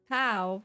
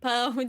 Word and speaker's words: pão: The accent on the A from the first word, but don't say pau because that means on something else. Just pão de queijo.